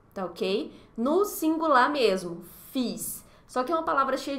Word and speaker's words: fils: sertão filho ok e aí fiz é uma palavra de exceção que você não pronunciou ele mas pronunciou s mesmo singular não fez e